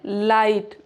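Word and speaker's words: light: तो जी एच अक्सर साइलेंट होता है। अगर वोवेल के बाद आए तो जैसे लाइट।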